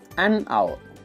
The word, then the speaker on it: hour: The particular letter H is silent.